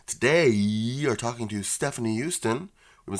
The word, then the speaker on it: Joosten: We today are talking to Stefanie Joosten. We've been saying her name wrong this whole time. It's not Joosten. It makes a yes sound.